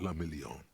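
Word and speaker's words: Guillaume Le Million: Le Million. Oh my God, that's such a fantastic name. If it doesn't rhyme, you're not pronouncing it right.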